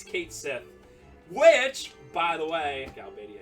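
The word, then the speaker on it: Cait Sith: Oh, man, I always pronounce this wrong. Kiat... Dang it. We just did this, like, last time. It's Ketshi.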